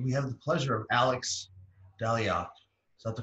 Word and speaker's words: Alex Dalyac: smartest friends and we have the pleasure of alex daliot is that the correct pronunciation alex it is hello so much for